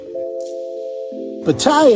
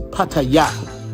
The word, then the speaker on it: Pattaya: And just so you guys know, the proper way to say it is Pattaya, not Pattaya. But Americans say Pattaya, but it's really Pattaya.